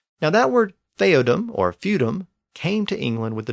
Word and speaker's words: feudum: and it became theadom fodm eventually came to be pronounced as feudum and since the property